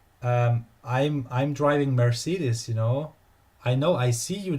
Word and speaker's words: Mercedes: Mercedes. I don't know how to pronounce it in American language, but in German it's Mercedes. Mercedes. Close enough. Yeah. Yeah, The German pronunciation should be the correct one.